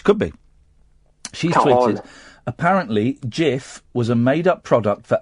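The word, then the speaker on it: Cif: Well, you know that in Turkish, if a word is written C-I-F, it's actually pronounced Jif. The C is pronounced as a G.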